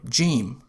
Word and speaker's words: جيم: In formal Arabic, the letter Jim is pronounced like J, as in jump.